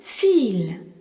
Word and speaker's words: viel: C'est pareil dans le mot viel, V-I-E-L, qui signifie beaucoup. Le I-E est un I long et le V se prononce fe. Viel.